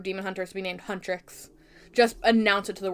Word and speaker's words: Huntr/x: Huntrix is how it's pronounced.